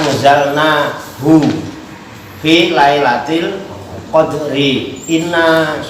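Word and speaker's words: إنّ: Inna anzalnahu fi Lailatul Qadri. Inna itu harfu taukid, dibacanya panjang ya, bukan inna pendek tapi inna, harus ada penekanan karena nunnya bertas.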